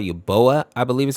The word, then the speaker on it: Uboa: This character is called Uboa, I believe is how you say it, and it's a character that resides in Poniko's house.